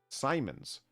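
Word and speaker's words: siemens: Conductivity is measured in Simons pronounced like semen.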